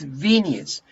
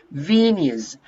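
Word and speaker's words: venue: and there is another another word here it's venus venus okay do you know what it means do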